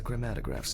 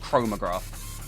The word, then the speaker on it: chromatograph: Okay, now it's the chromatograph's turn. Chromatograph. That's how you say it, by the way, not chromograph.